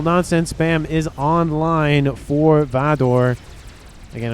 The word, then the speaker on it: Vador: T2 cruiser missile nonsense spam is online for Vador. Again, I'm trying to say his name like that instead of Vader, because I could easily say it like that, but it is with an O and not an E.